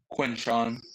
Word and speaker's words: Quinshon: So next you got how do you pronounce? Is it Quinshon or Quinshawn? Quinshawn.